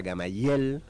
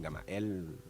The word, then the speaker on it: Gamael: Bueno, y otro, me acuerdo que como mi nombre en realidad se pronuncia Gamayel. Gamayel. Sí, en una instancia les decía a cada uno no, se pronuncia así porque me dicen Gamael.